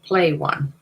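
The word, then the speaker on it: Pleione: about you play one and that's how it's spelled PL e i o ne play play one I think they pronounce it so this is a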